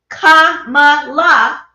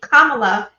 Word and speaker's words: Kamala: This is some of the reason men don't want Kamala, 3 syllables only, Kamala, to be president, because so many men are used to a woman bowing down, a woman not speaking her mind.